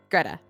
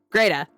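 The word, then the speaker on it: Grete: Greta rhymes with beta. Greta.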